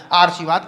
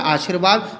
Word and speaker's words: आशीर्वाद: क्या है, आर्शीवाद, क्योंकि रा का उच्चारण अगर आप यहां लगा रहे हो तो यहां करना पड़ेगा, तो ये क्या है, आर्शीवाद। लेकिन शब्द क्या होता है, आशीर्वाद। रा का उच्चारण कहां होता है, यहां होता है, तुरंत यहां लगा दीजिए, आपका शब्द शुद्ध हो गया।